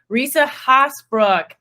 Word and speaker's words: Risa Haasbroek: Risa Haasbroek.